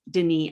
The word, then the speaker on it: Denis: little bit more about you denise and pronouncing your name correctly because i just tried and didn't do a good job sure can so my name is denis um what do i